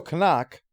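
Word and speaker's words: Knock: So Canuck, that's his name. In German, you're supposed to pronounce the K sound, apparently. Canuck calls in Hutter to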